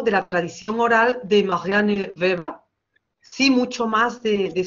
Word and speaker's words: Marianne Weber: Hoy vamos a hablar de otra de las fundadoras de la Sociología, Marianne Weber, en andaluz diríamos "Marian Veba" y nos quedaríamos tan contentas. Entonces, intentaremos respetar la pronunciación del nombre.